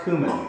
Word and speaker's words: cumin: open up are you ready yep it's actually pronounced cumin this is what eric is getting all right